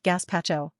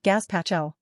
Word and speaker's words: gazpacho: Just remember that it's not gazpacho, it's gazpacho. Got it.